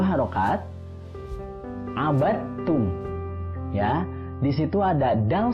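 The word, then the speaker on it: عبدتم: dengan ta, hukumnya adalah idgham mutajanisain, artinya dimasukkan karena bertemu dengan huruf yang sejenis, ya, jadi dalnya tidak perlu dibaca, langsung masuk ke huruf ta. Ya, abattum.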